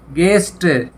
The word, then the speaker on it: guest: यहाँ भी you silent है। इसी तरह GUEST, गेस्ट, गेस्ट होते हैं अतिथि, मेहमान, अतिथि, मेहमान।